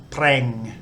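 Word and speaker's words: แปรง: haven't covered yet, but it's got the bo, blah, ro, rua consonant cluster. This vowel makes like an air sound, and then the ngo, ngu, ng final consonant, so preng, which means brush.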